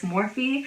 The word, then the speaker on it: Morphe: I used to think they were pronounced Morphe, but it's Morphe.